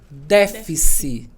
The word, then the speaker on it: déficit: Porque a sílaba tônica dela fica como se fosse antes da antepenúltima.